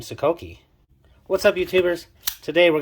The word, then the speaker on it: Sokoke: The Sokoke, the name, it is pronounced Sokoke. Actually, yes, Sokoke, not Sokoke.